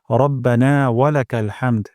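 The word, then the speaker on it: ربنا ولك الحمد: কোন জায়গায় না থামার জন্য আমি আরেকবার পড়ছি রব্বানা ওয়ালাকাল হামদ আমার হাতে সবাই উচ্চারণ করবেন রব্বানা ওয়ালাকাল হামদ্বানা ওয়ালাকাল হামদ হামদান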